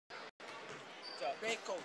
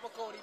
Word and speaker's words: Baco: Baco, not Bacotti, Baco. Baco, sorry. Baco, it's alright.